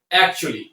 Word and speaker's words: actually: এই ওয়ার্ডটিকে আমরা অ্যাকচুয়ালি এইভাবে না বলে এই এবং এল লেটার দুটি সাইলেন্ট করে উচ্চারণ করতে পারি অ্যাকচুয়ালি।